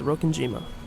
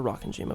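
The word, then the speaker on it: Rokkenjima: It's Rokenima. Rokenima. Rokenima or Rockenjima, but I'm assuming it's Rokenima.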